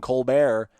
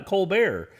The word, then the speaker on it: Colbert: Why Colbert? And he's like, well, actually, the original pronunciation is Colbert, and we changed it to Colbert because we lived in South Carolina, but I went and changed it back.